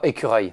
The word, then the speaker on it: écureuil: Oh, écureuil. Écureuil. You see those words that are like œil, accueil. Those I have to formulate my mouth differently.